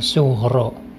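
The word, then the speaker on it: Sughra: adalah Qolqolah Sugro Hai di sana Sugra tapi membacanya suhro pakai hair in the Hai nah ini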